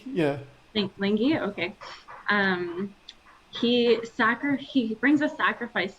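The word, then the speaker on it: Lyngvi: But in your fight scene where King Lingi, Yeah, I think that's pronounced Lingi. Yeah. Lingi, okay.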